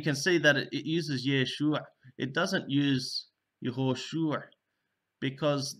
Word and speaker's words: Yeshua: And you can see that it uses Yeshua. It doesn't use Yehoshua because the name had come to be pronounced as Yeshua.